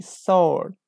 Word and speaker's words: sword: after me sword salt in this word we don't pronounce ee sword we say sword okay not support sword sword is a correct w w is not pronounced here 22 me now